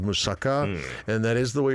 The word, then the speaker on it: moussaka: Moussaka. Ah, okay. Going to like the Mediterranean. Yeah, Greek. Greek In In Greece, there's a dish called moussaka, and that is the way you're supposed to pronounce it.